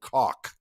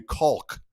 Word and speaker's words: Koch: And then we just Americanized it a little bit more by saying KOCH. Yeah. And then when I got to I started saying rhymes with chalk. And then I would have people, and that's what my publishing company is, Rhymes with Chalk Music. But then I got people calling me Kulk and putting an L in there.